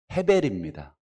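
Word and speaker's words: הֶבֶל: 아벨이라고 발음되어 있지만 실제로는 헤벨입니다.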